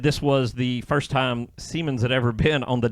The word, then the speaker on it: Siemens: This, someone said online, is the first time Siemens, that's how it's said.